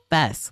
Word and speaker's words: FES: He pronounced it like the first half of festival, supposedly. So Fest, like I've been saying.